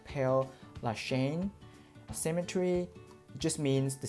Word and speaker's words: Père: Père, that's the French pronunciation, Père Lachaise cemetery just means the cemetery of the East.